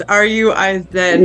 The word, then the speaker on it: Ruiz: The last name is Ruse. R-U-I-Z. Yes, Ruiz. I don't know how to. Yeah. Okay. I don't know how to pronounce the first part.